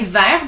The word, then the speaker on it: vert: at the end of the word you don't pronounce it like ver the color green you don't pronounce the vert